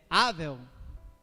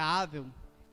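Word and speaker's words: הֶבֶל: E Abel, no hebraico, é Avel, ou Ebel, mas a pronúncia Avel, que quer dizer fôlego, sopro, vaidade, passageiro.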